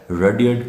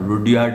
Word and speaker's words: Rudyard: Pronunciation में थोड़ा ध्यान रखना, रुडयार्ड नहीं है, रुडयार्ड, YARD हम यार्ड में चले जाते हैं, ये रडियर्ड है।